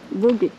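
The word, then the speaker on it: Vogüé: C'est ? Voguë ou ? Ça se prononce ? Voguë.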